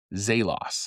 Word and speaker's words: Zelos: Now, the brand Zelos, Z E L O S, is actually pronounced Zaylos. Most people will pronounce it and I pronounce it Zaylos.